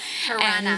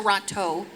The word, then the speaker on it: Toronto: Tirana. Tirana, That's yeah. how you say it like a real Canadian. Tirana. It's not Toronto. It's It's Tirana.